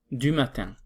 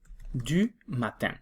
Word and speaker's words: du matin: horas son las 8:20 du matin DU matin ojo como lo pronuncian du matin Son las 8:20 son